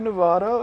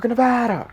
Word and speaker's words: Nevada: I'm not sure which time, but he went to Nevada and he was like, "You guys pronounce it differently. You're pronouncing it wrong. It should be Nevada. Everybody knows that."